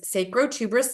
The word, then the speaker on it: sacrotuberous: And now I want to share with you another beautiful anatomical part, which is sacrotuberous ligament. Again, spell it phonetically. Sacro, S-A-C-R-O, tuberous, T-U-B-E-R-U-S, sacrotuberous ligament.